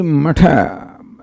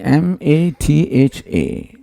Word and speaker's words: matha: The spelling M-A-T-H-A. It's called matha, not mat or mata or something. So anyway, people pronounce it differently. The word is matha in Sanskrit.